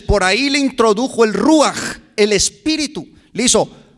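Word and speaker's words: רוח: Y apúntele, la palabra espíritu en el hebreo del Antiguo Testamento es ruaj. Ruaj con J al último.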